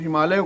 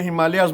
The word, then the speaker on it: हिमालय: बुजुर्ग ऐसा है कि इसका नाम हिमालय है कभी कहेंगे नहीं लोग आ रहे हैं और आप भी उनके साथ उनकी चमचागिरी में हिमालयाज बोलेंगे तो कैसे चलेगा आप सुधार लीजिए लॉर्ड